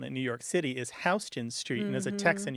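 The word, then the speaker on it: Houston Street: the classic one in New York City is hon Street and as a Tex and you probably appreciate that many people from the rest of the country assume that it's pronounced Houston as in Sam Houston U but it isn't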